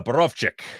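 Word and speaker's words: Borowczyk: well i can't pronounce deck but i can't pronounce uh boroff chick uh berovczyk there we go uh anyway uh burbane collection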